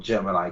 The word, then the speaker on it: Jiminy: Jiminy Cricket isn't called Jiminy Cricket. He's called Gemini Cricket, even though it's spelled the same way.